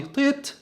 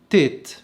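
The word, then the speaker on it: טית: وحرف الطيت المفروض ان نطقه الاساسي في العبرية القديمة طاء زي العربي طيت طاء، لكن حاليا اليهود بيسهلوا نطق الحرف ده فبينطقوه تيت تيت، بينطقوه تاء، بينطقوا الحرف ده تاء.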